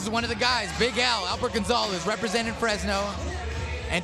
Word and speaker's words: Big Al: Big Al.